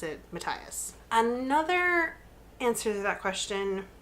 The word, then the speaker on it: Matthias: So yeah, I pronounced it like Matthias through the entire first book, and then I heard her pronounce it Matthias.